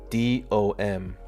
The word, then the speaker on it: DOM: absolutely insane Laura says it's typically pronounced as individual letters as d-o-m that's price action sucks